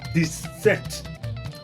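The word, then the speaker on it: dix-sept: It's just like adding 10 to seven. This you know 10 is this and seven is set. So 17 is this set.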